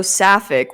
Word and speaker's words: Sapphic: So, Sapphic, how did you get your name?